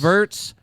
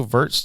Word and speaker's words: Wirtz: Florian Wirtz hurts. Oh, it rhymes.